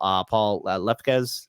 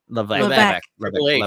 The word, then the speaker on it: Levesque: with, especially, knowing that Paul Lefkes, I keep on saying his name wrong. Levesque.